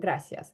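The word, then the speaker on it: gracias: грас в іспанському мові в іспанській мові немає звука ц тільки с граас тут я мушу зауважити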